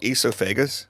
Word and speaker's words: esophagus: It's actually called esophagus. Esophagus. So Esophagus. speaking of mispronouncing things, Yes.